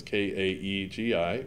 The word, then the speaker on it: Kaegi: And my name is spelled, and the last name is K-A-E-G-I, pronounced Kaegi.